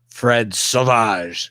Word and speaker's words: Savage: I'm from Philadelphia originally, they refer to Fred Savage as Fred Sauvage because they pronounce it in the French, and I can never not pronounce Fred Savage as Fred Sauvage ever again.